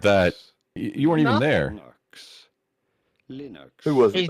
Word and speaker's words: Linux: Linux. Who was it? He's not. He's just saying. I'm not mad about that. Why are you mad about it? He's not. Well, who says he's mad about it? Linux.